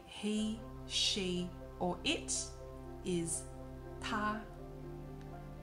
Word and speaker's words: 他: And please note, although the way to say he, she, or it is 他, in terms of writing he, she, and it in Chinese Mandarin is actually different. But the way you pronounce 他 is exactly the same.